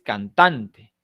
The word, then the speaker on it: cantante: Pero en el caso de la palabra cantante, no es cantante, ni cantante, es cantante. Tiene la mayor fuerza de voz en tan, ¿de acuerdo?